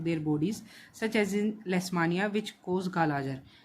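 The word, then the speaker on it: Leishmania: More organisation of their bodies such as इन लेस्मानिया which cause kala-azar. ये ध्यान से करना है। क्या पढ़ रहे हैं हम? लेस्मानिया। स्पेलिंग क्या है? यह ध्यान से पढ़नी है। लेस्मानिया क्या करता है भाई? लेश्मानिया।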